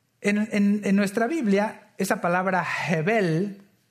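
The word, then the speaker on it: הבל: todo bien frío Y usted pronuncia la palabra hebel así con con un como una especie como de J al inicio hebel lo que va a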